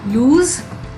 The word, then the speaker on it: lose: end loose loose so lose lose let's understand the meaning now first this okay lose with z sound at the end and with single o okay so this word